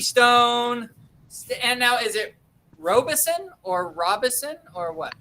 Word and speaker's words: Robison: And now is it ROBISON or ROBISON or what? I pronounce it Robison, but ROBISON is fine too.